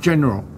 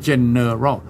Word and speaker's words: general: review ทบทวนนะครับการเลือกตั้งทั่วไปภาษาอังกฤษว่า general election ออกเสียงว่า general อย่าอ่านว่า general อ่านรวบ general election บัตรลงคะแนน ballot โอเคลงคะแนน vote